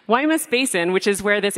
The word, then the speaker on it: Guaymas: Guaymas Basin I'm sorry Hawaii mess basin don't pronounce the G Guaymas Basin which is where